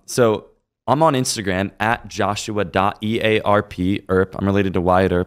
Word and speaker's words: Earp: with the verified one joshua. ARP her is how you say my last name I'm also on Facebook